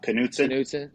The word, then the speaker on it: Knutson: are around each other but we had James Knutson on the line today also known as jamo pleasure to be here James how you say your last name uh Knutson yeah okay yeah I mispronounced um Riker's last name you know I